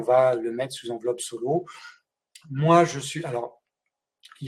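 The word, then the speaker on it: Soleau: peux nous expliquer ce que c'est qu'une enveloppe solo alors l'enveloppe solo ça n'a rien à voir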